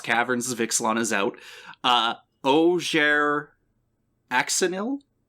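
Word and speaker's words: Ojer Axonil: Oger Axonil? You gotta pronounce that J more like an H. The name is more like Oger Axonil. Ah, there we go. Okay. So Oger Axonil do they pass the Hero's Blade vibe check?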